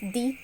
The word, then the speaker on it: the: But the is pronounced as the when there is emphasis on noun.